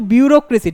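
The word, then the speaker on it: bureaucracy: জেড এর বদলে শুধু সি বুড়িয়া ক্রেজি বিউরোক্রেসি উচ্চারণটা কিন্তু বিউরোক্রেসি ঠিক আছে বিউরোক্রেসি মানে হচ্ছে আমলাতন্ত্র নেক্সট কি বলেছে অসেসমেন্ট অসেসমেন্ট মানে কি?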